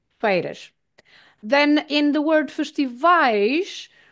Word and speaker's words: feiras: The pronunciation is the sound of A. So, feiras, feiras, feiras.